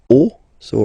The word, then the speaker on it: os: the end, but then same rule, you don't pronounce it. Des os.